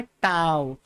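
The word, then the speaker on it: tau: टाउ, टी यू ए, ऐसा कुछ, तो टी ए यू जो भी है आप स्पेलिंग देख लेना। इसको बोलते क्या है? टाउ।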